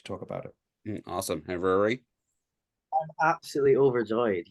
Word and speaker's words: Ruaridh: All right, Mikko and Ruaridh. Is that how you say it? Yeah, perfect.